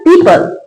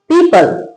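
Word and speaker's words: people: पीपल। क्या पढ़ते हैं? पीपल पी ई ओ पी एल ई पीपल एफ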